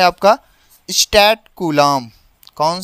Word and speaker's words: coulomb: SI मात्रक होता है इसका कूलाम, क्या होता है, कूलाम, ठीक है, कूलाम होता है। स्पेलिंग इसकी ध्यान से देखिएगा, COULOMB, ये कूलाम।